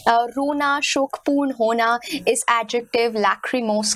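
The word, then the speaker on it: lachrymose: लैक्रिमोस इस पर्टिकुलर शब्द को हम लैक्रिमोस की तरह प्रोनाउंस करते हैं.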